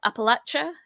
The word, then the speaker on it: Appalachia: talked last time you came on about um Appalachia is that that's the right way to say